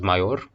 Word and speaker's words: mayor: the day mayor here it is in fact pronounced major um but as in mayonnaise mayonnaise i you think